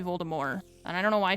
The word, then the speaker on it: Voldemort: the narrator kept saying Voldemort. And I was like, why are they pronouncing it like that? That's so weird. And she was like, that's actually how they said it's supposed to be pronounced. J.K. Rowling, who's a fucking weirdo, but she went back and was like, actually, even though they said Voldemort in the movies, it's supposed to be Voldemort.